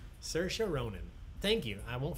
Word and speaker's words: Saoirse: book yeah it's beautiful it rhymes with inertia as she says surgeons Saoirse inertia Saoirse Ronan thank you I